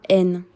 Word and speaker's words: haine: La haine. Remember that H is always mute.